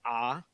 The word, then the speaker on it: Arc: was get a robo it's written Arc but it's pronounced ah for some reason so get a robo ah that was the last